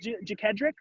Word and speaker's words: Jedric: find okay do you is your name pronounced jedric yes your toss is absolutely